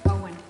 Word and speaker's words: EON: of EON, is that the right way to pronounce it? Owen. Oh, thank you. Owen LLC, with Colin Powers as manager, for a